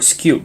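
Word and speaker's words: Skewb: over here we have the square or skew depend on how you pronounce it which is another fun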